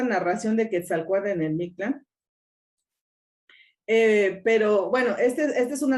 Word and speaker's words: Mictlan: Acuérdense que en náhuatl las palabras son graves, nada más que cuando las castellanizamos pues le ponemos el acento en la última sílaba, ¿no? Como en el español, pero en náhuatl sería Mictlán, y nosotros pues lo decimos Mictlán, ¿no?